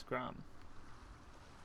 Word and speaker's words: Gram: the fragments of his sword the sword named gram you don't pronounce that last r it's grom okay first time i ever heard of odin